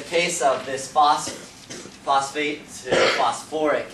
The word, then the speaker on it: phosphoric: In the case of this phosphate to phosphoric, it adds in another syllable whenever you get to the ick. So you don't go phosphic acid, phosphoric acid.